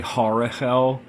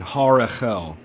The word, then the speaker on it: Harahel: I think so I think it's fine to say horel but if you really want to be technically correct with the angel It's har it's a the second H so shim Angel 59 Harel this genius rules treasuries